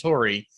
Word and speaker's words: Torii: Well, Rory rhymes with Torii.